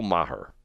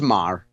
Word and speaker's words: Maher: He's on the air with Bill Maher. Maher, however you say his name. I always get it. I want to say, is it Maher or Maher? Just Maher. Mah.